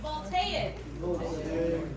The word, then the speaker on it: voltaic: Can everybody say it with me? Voltaic. Everybody heard of the word voltage? Yeah. Think of that. We got a voltaic cell.